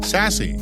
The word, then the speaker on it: SASE: relationships origin and context pronounced sassy or as I like to call it sass the term is so